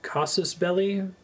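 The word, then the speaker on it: casus belli: is it is it casus belly that's how you pronounce it it's the same belly in parabellum various ways to obtain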